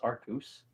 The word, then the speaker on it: Arceus: May Arceus have mercy on your soul. Thank you. It's pronounced Arcus.